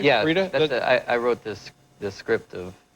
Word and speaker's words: Frida: Am I pronouncing that correctly? Yeah, Frida?